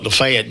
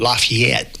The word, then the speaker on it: Lafayette: And now now Nashville, wait, we always call Lefet, but everybody wants to call it Lafayette.